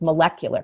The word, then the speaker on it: molecular: this word molecule so the word molecule has the emphasis on that first syllable molecule but then all of a sudden we for no reason whatsoever we change the stress when we say molecular chemistry it's not molecule chemistry it's molecular chemistry that's true like how